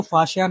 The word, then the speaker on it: Faxian: एफ ए एच एस एच ए, ये जो correct pronunciation है वो फाशियान है।